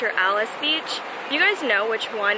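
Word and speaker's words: Alys Beach: bike ride away from Ali's Beach or Alice Beach you guys know which one it is like comment down below because we're all so confused I don't get why spelled alleys and pronounce Alice so let me know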